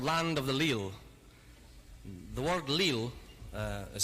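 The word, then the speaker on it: leal: it it's a song called land of the leel the word Lil uh is spelled in Old Scots l-e-a-l and it means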